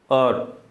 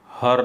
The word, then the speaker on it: hour: HOUR, और हर नहीं, ठीक है ना, और, तो वहाँ वो साइलेंट है।